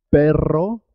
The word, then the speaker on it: perro: árbol es muy importante perro se escribe con dos erres y suena doble perro cuando se escribe